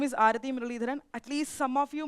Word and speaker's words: Aarathy Muraleedharan: So, my name is Arati Mirharan. At least some of you might feel a bit difficulty to pronounce my name.